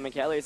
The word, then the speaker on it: Michele: It is actually pronounced Michele, so my apologies for that one, as Lunala is going to take the field right now for Naoto.